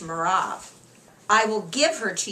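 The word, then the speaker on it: מרב: my older daughter and in the Hebrew it's pronounced merav I will give her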